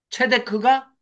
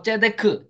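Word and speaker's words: צדק: 그 미시파트를 지키면 체데크가 행동으로 옮겨져야 된다. 그래서 그게 공의 이것이 체데크입니다. 체데크. 츠다카라고도 하고 제데크, 제다카라고도 하는데 뭐 발음이야 좀 이렇게 날 수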